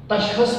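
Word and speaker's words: تشخص: बाबे तफ़ाउल का मस्तर है तशख़्ुस, खा के ऊपर थोड़ा सा जोर लगाकर तशख़्ुस, यह इसका तलफ़्ज़ है।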